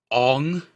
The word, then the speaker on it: Aang: Excuse me, it's pronounced Ong.